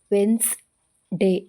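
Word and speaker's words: Wednesday: ಇಲ್ಲಿ W silent ಆಗಿದೆ ಡಬ್ಲ್ಯೂ ಇಡಿಎನ್ಇ ಎಸ್ ಡೇ ಎವೈ ವೆನ್ಸ್ ಡೇ ಇಲ್ಲಿ ಡಿ ಸೈಲೆಂಟ್ ಆಗಿದೆ ಇಂತಹ ಇನ್ನು ಅನೇಕ ಪದಗಳಿದೆ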